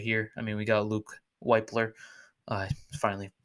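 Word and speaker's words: Wypler: We got Luke Weipler. I finally pronounced it right. We got Luke Weipler here in that pick.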